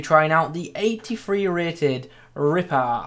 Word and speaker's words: Ripart: In this video today, we are going to be trying out the 83 rated Ripart. I'm presuming I don't pronounce the T since it's a French name.